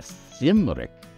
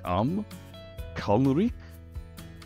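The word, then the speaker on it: Cymrych: the Karen of so emphasis on the first syllable come kri and it depends on again your voice whether you go Rick or Rick you you shorten it or broaden it but I would say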